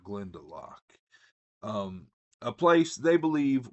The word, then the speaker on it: Glendelock: Together they form a makeshift family and attempt to reach Glendelock. Um it looks like Glendelo, but the book pronounces it Glendelock.